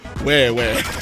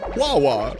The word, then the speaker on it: Wawa: and you still don't know that it's not pronounced wah wah? It's so funny to me. It's so funny. I love wah wah. Yeah, right? Like, they legitimately pronounce it Wawa, like in commercials and shit.